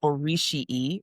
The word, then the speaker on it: Orisii: It was called Orishii, which is spelled Orisii, and that is Yoruba for pairs, like a pair of people, not a pair of shoes.